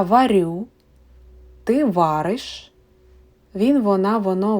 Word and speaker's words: варю: Please note that the stress in the first person singular, я, is on the last syllable. And in all other persons and time, it is on the first syllable.